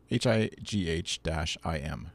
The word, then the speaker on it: Haim: But and then at Liren Hollick, we'll say, said tweeted, small correction, it's Haim, pronounced like Haim, Haim, High-im. How would you pronounce that?